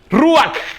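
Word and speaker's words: Ruach: Ruak se se pronuncia así como como con al final, ¿ya?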